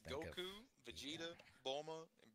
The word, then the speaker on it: Bulma: Bulma. Yeah. Bulma? Okay. Bulma. What about the Beerus? Beerus. Okay. Right. All right. So, Vegeta. Yep. Just think Goku, of Vegeta, yeah. Bulma, and Beerus.